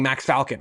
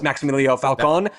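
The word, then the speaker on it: Maximiliano Falcón: and them also signing Max Falcon which is not at all how you say his name. Uh it's Max Millio Falcone but Max Fal is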